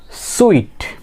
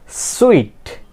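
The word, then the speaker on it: suite: সুইট। প্রনাউন্সিয়েশনটা কি হবে? এস। এটাকে আমরা কি উচ্চারণ করব? সুইট।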